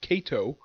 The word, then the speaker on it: Kato: the name of katsu Kat Tito kazooie cake Kato that's how you pronounce the person's name now there are many